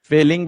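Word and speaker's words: Fehling: Aldehyde फेलिंग विलयन, फेलिंग विलयन, फेलिंग APH ये जो है एच साइलेंट इसमें रहता है।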